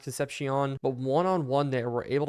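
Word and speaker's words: Concepcion: an absolute play Kevin conception getting in I think it's actually pronounced concepion but one-on-one there we're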